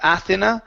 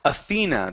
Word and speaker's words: Athena: is the name okay instead of aena it's Athena the stress is in is in in the middle Athena Athena good one